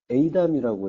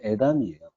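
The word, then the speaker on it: אֵידָם: 그래서 그 환란 당하는 날을 욤 에이담이라고 했었는데 요게 그 제가 그 주석을 참고해서 에이담이라고 했었는데 다시 보니까 주석이 좀 잘못됐어요. 그래서 에이담이 아니고 이럴 때 발음은 에담이에요.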